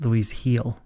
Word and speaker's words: Luis Gil: Just for future reference, it's Luis Gil. Gil, okay. Yeah. Oh, because it's Gil. It's pronounced with the H.